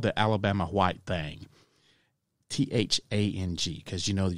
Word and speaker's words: Thang: called the Alabama White Thang, T-H-A-N-G, because you know that you got to pronounce it with a southern drawl, so it's not the thing, it's thang.